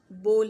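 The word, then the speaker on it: bowl: हम में से अक्सर लोग इसको बाउल पढ़ते हैं, जबकि ये बोल है, सिंपल बोल।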